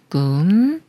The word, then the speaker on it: 꿈: 받침을 만난 경우를 알아볼게요이 글자는 꿈이라는 글자인데 먼저 음모음 글자 부분을 읽는 거예요 끝 소리를내는 쌍 기업과 우 소리를내는 우를 합쳐서 꾸라고 읽고 여기에음 소리내는 미음 받침 소리를 합쳐서 꾸음 꿈 꿈 꿈 다음은 복이라는 글자인데 마찬가지로